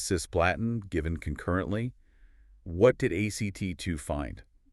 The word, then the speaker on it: ACT2: Well, that led directly to the UK ACT2 trial. Remember, pronounce it like the word ACT. ACT2.